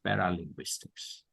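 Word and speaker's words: paralinguistics: paral Linguistics paral Linguistics so what is linguistics p a r a l i n gu u i s t i CS paral Linguistics par paralinguistic yes yes so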